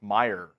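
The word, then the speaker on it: Mayer: mayor at tight end it's Meer Meer but that's the German way to spell it a probably but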